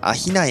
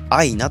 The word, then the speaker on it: 安比奈: 線の場合は西武安比奈線あ比奈駅あー雛と呼ばれるんですがただこの近くにある安比奈親水公園とかの場合はアイナと読みますし地名も愛菜と読むみたいですねさあ入間川の